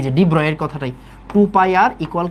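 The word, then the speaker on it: de Broglie: তারপরে ডিব্রয়, ওকে, এটার অ্যাকচুয়াল উচ্চারণ হচ্ছে ডিব্রয়।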